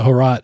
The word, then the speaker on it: Hrot: I also have Harot. So it's spelled HROT. Yeah. So Harot is like a very popular boomer shooter that I've played the demo of, but I never ended up buying.